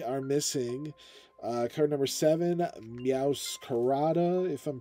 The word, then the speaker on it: Meowscarada: So, taking a look here, we are missing card number seven, Meowscarada, if I'm pronouncing that correctly.